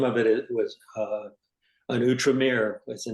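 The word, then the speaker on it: Outremer: say that word again we read it as out rer o u t r m e r uhhuh and it's actually pronounced utram utram Mir sounds a lot better actually out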